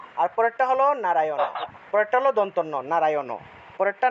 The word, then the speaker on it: নারায়ণ: একটা হল দাঁত দিয়ে উচ্চারণ করতে হয়। এটা হল দাঁত দিয়ে। অর্থাৎ নারায়ণ।